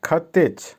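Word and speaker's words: хотеть: অর্থ হচ্ছে কথা বলা বা স্পিক আবারো বলছি উচ্চারণ হবে গাভারিজ ভার্ব খাতেজ খাতেজ এটাও একটা প্রচন্ড প্রতিদিন প্রচুর প্রয়োজন পড়ে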